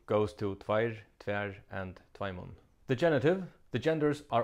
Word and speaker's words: tveimum: The Faroese dative final m is pronounced n. Here's a sentence example of how it might work. Tvær stormar åttu tvær åttjar og tveimon London.